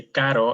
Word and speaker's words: caro: If I say caro and carro, what's the difference? You hear the roar. So for that, you need to basically roll your tongue a little bit.